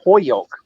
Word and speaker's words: Holyoke: Now, people from Holyoke don't say Holyoke; they say Hoyoke. So they almost take the L out. But only people from Holyoke know that.